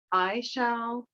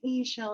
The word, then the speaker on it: Ix Chel: to pronounce your name some people will say i shall or e shall i feel like e shall is more correct um i have no judgment if you are used to pronouncing it i shall so if you spell